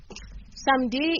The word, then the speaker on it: samedi: When it comes to samedi is simple.